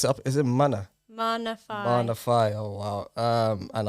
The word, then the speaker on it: Maana Faay: Maana Faay.